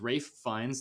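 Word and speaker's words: Ralph Fiennes: Will Ferrell it stars Rafe finds there you go Peter I'm saying it right on the Taylor Joy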